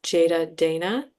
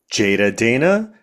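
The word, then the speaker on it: Jeyda Deyna: So, my own social media is Jada Dana.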